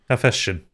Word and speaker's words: Hephaestion: I don't know how to pronounce this. I'm going to go with Hephaestion. Hephaestion.